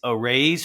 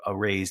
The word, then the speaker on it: Araize: It's Arraize Fast Fund Online. It's spelled A-R-A-I-Z-E.